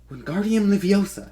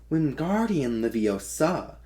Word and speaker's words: Wingardium Leviosa: "Wingardium Leviosa," he shouted, waving his hands like a small windmill. "You're saying it wrong," Harry heard Hermione say. "It's Wingardium Leviosa. Make the gar nice and long."